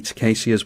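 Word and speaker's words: Tocasia: And I think we're fine to dump the Tacasia's Welcome into play here. Apparently this is pronounced Tacasia, someone told me the other day,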